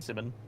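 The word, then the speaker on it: Symin: it might be but his name is spelled it's like s y m i n Simon Simon okay yeah Simon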